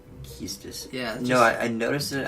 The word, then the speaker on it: Quistis: Quistis is pronounced Keistis. Keistis.